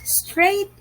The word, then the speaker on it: straight: it for me correct straight is spelled as s t r a i g h t straight if you have noticed not all letters are sounded g and h were silent it wasn't red and